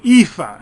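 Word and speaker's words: EAFE: everybody including the United States and then the epha and that's how it's pronounced Europe Australia and the Far East and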